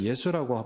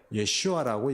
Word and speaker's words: 예슈아: 됐습니다 예수라는 말 자체가요 히브리인들은 예수라고 말하지 않습니다 왜냐하면 예수는 저주받은 자 이런 뜻이에요 예슈아라고 얘기한다고 했습니다 예시와 왜 그렇습니까 발음